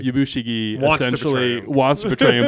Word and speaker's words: Yabushige: Yabushige Essentially wants to betray him, but is not, so unlucky that he can't.